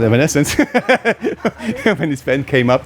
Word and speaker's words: Evanescence: band that some Germans would say still say evanescini but it's called Evanescence when his pen came up the first thing